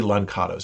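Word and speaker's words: lançados: and african languages uh it's spelled here uh l-a-n-c with a little uh kind of hat below it a-d-o-s like basically lancato's yeah that's good but uh the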